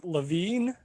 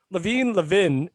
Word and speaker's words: Levin: Levin is not that bad. You had the right emphasis on the right syllable.